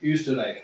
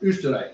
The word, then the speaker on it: Österreich: Like Österreich, which is Austria. Is it umlaut? Österreich is the German word Österreich, for is it Austria.